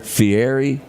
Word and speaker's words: Fieri: That guy, how do you pronounce his name? Fieri.